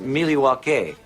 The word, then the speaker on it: Milwaukee: in which i interview phoenix suvas of milwaukee wisconsin actually it's pronounced miliwake which is algonquin for the good land but first one spring